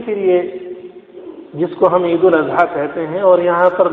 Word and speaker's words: عید الاضحیٰ: تو یہ کہنا چاہیے، بقرہ عید نہ کہیں، عید الاضحیٰ کہیں. یہ صحیح ہے اور صحیح تلفظ یہ ہے.